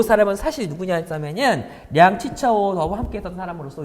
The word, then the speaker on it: 량치차오: 자, 량치차오 양기초라 부르는 한자 발음입니다.